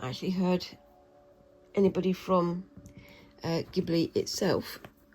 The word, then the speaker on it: Ghibli: I know that there's a sort of standard way of saying, Japanese sounds, and from what I understand, the ge sound or g sound is a hard G.